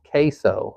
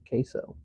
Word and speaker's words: Queso: Queso like the cheese dip. Queso.